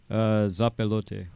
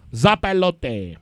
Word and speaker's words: Zopilote: How do you guys pronounce that? Zopilote. Zopilote.